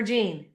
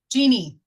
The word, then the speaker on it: Jeannie: Oh, and hey, is it Jeannie or Jean? Jeannie. Jeannie.